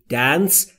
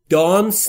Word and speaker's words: dance: مور یا با موری دنس یعنی رقصیدن دوستان تلفظ درستش دانس نیست دس یعنی رقصیدن یعنی تو با مور